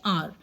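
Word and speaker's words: hour: इसको हम हावर नहीं कहते हैं, हम इसको क्या कहते हैं, आर.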